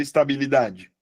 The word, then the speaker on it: estabilidade: est li d de pessoal, qual é a sílaba mais forte da palavra estabilidade? Que que vocês me dizem, por favor? Estabilidade. Confere. A Mábia falou que é o dá, Jobson. A mia tá errada? Não, a mia não está errada. A sílaba tônica aqui é o dá.